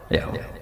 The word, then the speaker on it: Yahweh: Ya paham ya, Tuhan Yahudi tunggal niku Yahweh, napa? Yahweh. Iku nak teng ejaan Latin Y besar, A H besar, W E H besar, Yahweh.